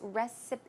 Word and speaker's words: recipe: And recipe, you may all know, but just in case, the P sound here is recipe. It's closer to a B sound, so it's recipe, recipe.